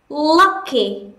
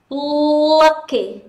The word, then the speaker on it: lucky: tiếp theo đó là lucky lucky lucky chúng ta không phải là âm á đâu nhá không phải đọc là Lucky mà là Lucky Lucky và tiếp theo